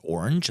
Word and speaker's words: Orange: of the city of orang which is orange it looks like orange but it's pronounced orang and for a specific